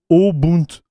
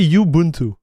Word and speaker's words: Ubuntu: It's pronounced Ubuntu. Ubuntu. I would say Yubuntu. Yubuntu. Ubuntu. Ubuntu. Oh yeah, you're right. Ubuntu.